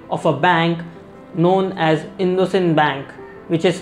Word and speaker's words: IndusInd: is the project of a bank known as indocin Bank which is pronounced also as in the same Bank IND us IND in the same Bank